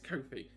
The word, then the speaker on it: Kofi: It's Kofi because my partner did have an interview with him. There we I go. was like, how do you say it? I need to know how to say it first.